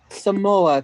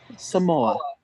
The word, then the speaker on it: Samoa: Spell it for me. S-O-M-A-A. Samoa, Chris. Samoa.